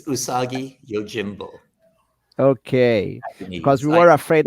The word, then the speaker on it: Usagi Yojimbo: how do I pronounce is it usagi yojinbo is that the right way to say it it's usagi Yojimbo okay because we were